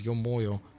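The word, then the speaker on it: ё-моё: The term yo mayo is often associated with the Russian exclamation "emo," pronounced approximately as yo moyo.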